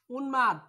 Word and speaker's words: উন্মাদ: সাথে যদি কখনো সংযুক্ত থাকে তাহলে সে ময়ের উচ্চারণ হবে। ঠিক আছে, ঠিক একই সাথে এবার জন্ম, তাহলে কি হবে স্যার, জন ম। উন্মাদ উন্মাদ, গুল্ম গুল্ম।